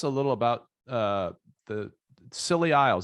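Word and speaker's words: Scilly Isles: little about uh the silly isles that's actually how you pronounce it right silly isles and that so they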